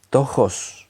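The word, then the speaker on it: πτωχός: La palabra mendigo en el griego es tojos, se escribe P-T-O-J-O-S, tojos, que nos habla de una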